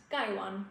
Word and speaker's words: gaiwan: So to begin with the word gwan um in Chinese it's pronounced gwan like those tones and the guy means litted and the one means bowl.